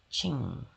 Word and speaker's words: Qing: They called themselves the Qing 이렇게 발음하는 거예요. Qing.